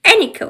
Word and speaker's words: Eno: So I should pronounce like Eno, but I keep saying like Eno. So sorry for that. It should be Ano. So sorry it's like it was a little bit confusing the pronunciation, but it's ano.